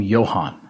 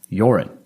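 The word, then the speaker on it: Joran: the news i was i kept calling him johan and i don't know why i did and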